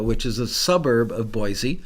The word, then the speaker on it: Boise: is a suburb of Boise or as they say in Idaho Boise it's funny they pronounce it funny in their own state but I guess they know what they're doing because they live there so I am going